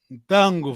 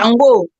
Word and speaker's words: Ntango: Voilà, l'autre sens aussi, le soleil en Kikongo, c'est Ntango, voilà, Ntango, c'est Ntango. Hein? Tango, wow. C'est Ntango, c'est Kikongo, c'est Ntango. Parce que eux, ne peuvent pas prononcer le N et la nasale.